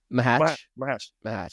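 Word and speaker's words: Macháč: Hawkins, you mentioned, is one of those kind of, how do you say his name again? The Czech player? Mahatch, yeah.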